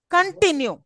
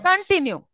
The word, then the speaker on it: continue: top okay remember continue hear my word correctly continue am I not stressing on T yes continue okay so if you pronounce this word continue T should be pronounced